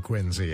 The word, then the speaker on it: Quincy: a biography of john quincy adams quincy incidentally is how the family pronounced it the historian tells this